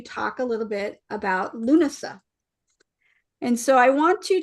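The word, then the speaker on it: Lughnasadh: Today, we're going to talk a little bit about Luna. And so I want you to see what l how Luna is spelled.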